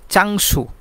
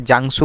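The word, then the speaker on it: 장소: বলতে পারি ছিগুম এখন চাংসু চাংসু অর্থ জায়গা চাংসু জায়গা এটাকে অনেক সময় অনেকে জাংসু বলে থাকেন অর্থাৎ এটা সিওতের মত একটু উচ্চারণ চাংসু অর্থাৎ জায়গা বা স্থান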